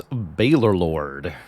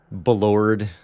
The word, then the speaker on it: Baylor Lord: How do you pronounce Baylor Lord? That's my preferred pronunciation. Does commonly get misspelled and mispronounced, as it's a rather unusual name. I've seen Baylord quite often, Balord, Balorlord, all of these things I've heard and seen.